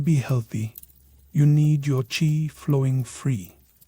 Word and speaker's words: chi: Here you're a vessel for chi, pronouncedq chi. And no, not the trendy grain.